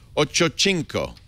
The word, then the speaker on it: Ochocinco: Ochocinco.